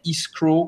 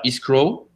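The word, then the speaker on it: escrow: ça une title and isrow Company alors israw c'est un faux amis ça ne veut pas dire escroc ça s'écrit escrw et ça veut dire séquestre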